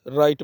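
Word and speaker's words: write: इसी तरह नेक्स्ट हमारे पास है राइट, एक कॉमन वर्ड है, इसमें भी वराइट नहीं बोलते बल्कि राइट बोलते हैं, W को साइलेंट किया जाता है।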